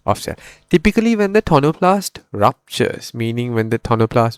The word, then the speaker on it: tonoplast: We call it the tonoplast. Tonoplast. So the vacolle is surrounded by a tonoplast. That's the way I pronounce it.